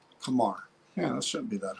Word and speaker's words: Qamar: Kamar. Kamar.